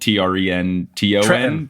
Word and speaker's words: Trenton: Trenton, which is spelled T R E N T O N, but it's pronounced T R E N apostrophe I N.